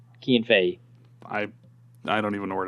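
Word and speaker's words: Cian Fahey: Wait, is that how you pronounce his name? Yeah, it's Kean Fay.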